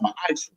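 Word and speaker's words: מַעֲשֵׂר: You can find this in Numbers 18:21, Malachi 3:8-10 means 10th in the Hebrew, and it's pronounced ma'ash.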